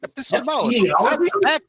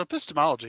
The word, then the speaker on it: epistemology: Which takes us back to our conversation about epistemology. Or epistemology. Epistemology is how you pronounce that. I've been saying that wrong all night.